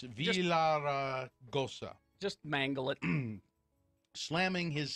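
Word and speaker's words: Villaraigosa: That was after Gary Pierce, a commissioner of the 5-member Arizona Corporation Commission, wrote a letter to Villagarosa. I can't say his name. It's Villaragosa.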